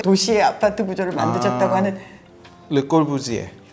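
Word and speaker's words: Le Corbusier: 아파트 구조를 만드셨다고 하는 르꼴부지에. 불어 발음 봐라. 르꼬부지에. 꼬부지에.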